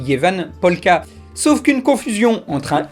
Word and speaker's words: Ievan polkka: A noter qu'en finlandais, Eve se prononce quelque chose comme Jeva et que la chanson est censée s'appeler Jevan Polka.